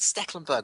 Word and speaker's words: Stekelenburg: Sticklebackberg. Trust me, the amount of times you have to go, oh, for Christ, Stecklenburg.